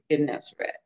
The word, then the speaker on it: Gennesaret: Because the one name that Gennesaret, is that how you pronounce it? Gennesaret, yeah.